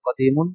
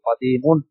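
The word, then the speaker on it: قديم: আমরা বাচ্চাদেরকে এভাবে পড়াই, জাদিদুন, জাদিদাতুন, নতুন, কদিমুন, কদিমাতুন, পুরানো বা পুরাতন।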